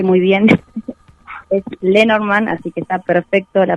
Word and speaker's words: Lenormand: Bueno, primero déjame decirte que lo pronunciaste muy bien. Es Lenormand, así que está perfecto la pronunciación que dijiste.